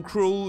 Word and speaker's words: Krul: pour José, en utilisant Krul, le nom du gardien de Norwich et héros de cette séance de tir au but, dont la prononciation est proche du mot cruel en anglais.